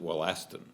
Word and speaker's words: Wollaston: He just pronounced it Wollaston, which is how it's pronounced for the mineral, wollastonite.